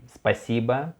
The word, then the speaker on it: Спасибо: Okay, спасибо means thank you. Спасибо. We can see also here O without stress. So we pronounce it like A, yes.